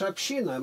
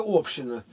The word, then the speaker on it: община: Община только в слове, когда палата общин считается в парламенте в Британии. А в остальном случае ударение на «и», на второй слог.